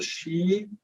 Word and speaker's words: Sidhe: that I wrote with Jeremy, Call of the She, which is my last book, there you can see how it is spelled.